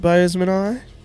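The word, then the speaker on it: boesemani: is the bozeman eye zen will be happy that i'm pronouncing it boseman eye sorry so yeah bozeman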